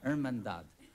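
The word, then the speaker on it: Hermandad: On the pronunciation. Irmandad.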